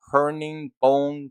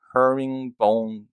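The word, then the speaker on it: herringbone: so it's called the luxurious new hurning bone pattern seats let me see i pronounced that right herring bone pattern so that's how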